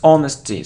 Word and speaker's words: honesty: not emphasis emphasis emphasis it isn't honesty its honesty so we don't pronounce age here honesty it isn't a